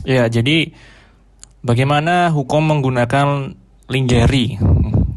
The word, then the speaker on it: lingerie: Jadi bagaimana hukum menggunakan lingeri. Nih lingeri itu apa pronunciation itu kan dari bahasa Inggris ya. Yang benar bacanya lungery ya.